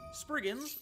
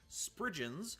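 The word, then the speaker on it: spriggan: Sprigins, or as I learned how to pronounce them in research, sprigens, are fairies of Cornish folklore who are depicted as wizened old men with childlike heads.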